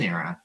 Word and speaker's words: Aiera: And I think that, you know, as we started with Aiera, and I, you know, starts kind of the AI equity research analysis, the AI is silent, because I think that with it, within Aiera, you know, we're really